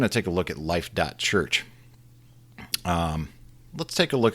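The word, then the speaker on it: Life.Church: was founded in 2008 by Bobby growald and life. church and after I read about this we're going to take a look at life. church um let's take a look at life.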